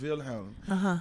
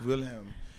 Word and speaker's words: Wilhelm: William is uh is German and it's uh it's from the German version pronunciation is Wilhelm. Wilhelm.